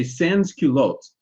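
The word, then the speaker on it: sans-culottes: item at this time Sans means without So when you say sanskulotes what you're saying is I don't wear culottes and and what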